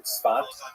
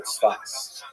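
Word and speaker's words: צפת: Israel city of Safed, pronounced in Hebrew Tzfat or Tzfas.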